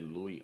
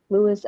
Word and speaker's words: Louis: Louis. I never knew. Yeah, you're Uh, right. You said it. You said it right. Louis, You can yeah, say Louis or Louis. It's the same, Louis same or Louis.